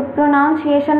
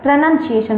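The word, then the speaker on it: pronunciation: फिर सिएशन लिखते हैं, सिएशन लिखते हैं ना, तो प्रोनाउंसिएशन नहीं होता है, प्रोनंसिएशन होता है।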